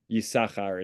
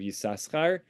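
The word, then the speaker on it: Issachar: call the mtic tradition the tradition of pronunciation seems to be of bi of biblical pronunciation of the name seems to be yakar instead of yasar of course we we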